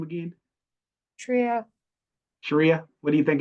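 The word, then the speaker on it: Shreya: Sharia.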